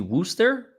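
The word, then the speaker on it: Worcester: my vehicle a Wooster it's supposed to be Wooster it said I mean you unless I'm blind that says Worchester is that you pronounce it Worster okay I'm I'm I'm the idiot in the room then okay Wooster we kind of skipped five letters there folks it's a it's a silent r c and e it's a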